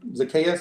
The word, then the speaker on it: Zacchaeus: quiz and Zacchaeus are Zacchaeus is how you say it I think they're likely